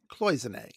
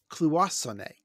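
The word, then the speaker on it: cloisonné: pronunciation of the word well we pronounced it cloisonne philippo says clue sonnet well you might be right but um it would not surprise me if it is pronounced that way in french or italian but every english dictionary i could find they pronounced it the way we did and they might be giants pronounced it that way and we're you know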